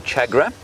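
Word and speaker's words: tchagra: I'll play you the call of the chagra. Chagra is spelt T-C-H.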